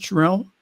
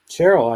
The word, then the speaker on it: Sherrill: And in New Jersey, another moderate, Representative Mikey Sherrill, is that how you pronounce it, Sherrill? Cheryl, I thought.